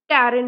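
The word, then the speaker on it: pterin: होता है या फिर टैरिन होता है। पी साइलेंट होता है तो टैरिन इसकी तरह इसे पढ़ते हैं।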